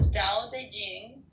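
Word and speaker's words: Tao Te Ching: is his best reward D Ching pronounced more or less da Jing can be translated as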